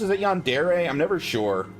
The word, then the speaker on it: Yandere: Is it Yandere? I'm never sure. Obviously, I want to say Yandere because that would be like the American pronunciation, but I think it's Yandere.